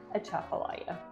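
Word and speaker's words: Atchafalaya: that's a Chapala Basin so that's how you pronounce the word a Chapala number five on our list is the Louisiana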